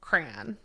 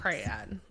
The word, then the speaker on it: crayon: Crayon. Wait, crayon. No, I do it with 1 syllable. Crayon. How do you pronounce that is crayon? 1 syllable. Okay. So with 1 syllable, it rhymes with man.